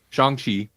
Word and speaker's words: Shang-Chi: I couldn't remember the correct pronunciation. Shang-Chi.